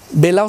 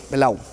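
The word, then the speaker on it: Behlau: Belao se escribe B-E-H-A-U-L, Belao.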